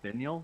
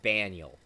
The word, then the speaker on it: Banial: Binial? That's what it's pronounced as? No, Yeah, it's it's supposed to be Banial.